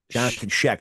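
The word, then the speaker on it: Jonathan Schaech: Jonathan Sheck.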